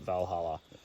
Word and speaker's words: Walhalla: We went to Walhalla. It's spelt with a W, but if you remove the W, put a V there. If you were German, you'd call it Valhalla.